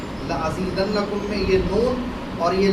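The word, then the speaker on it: لَأَزِيدَنَّكُمْ: آپ کہیں لأضربن، لأفعلن، ایک نون ہوتا ہے جس پہ تشدید لگی ہوتی ہے، جس کو ہلکا سا وائبریٹ کر کے اس کا پروننسیشن ہمیں کرنا ہوتا ہے، اس کا تلفظ اس طرح کرنا ہوتا ہے۔ لأزیدنکم، لأزیدنکم میں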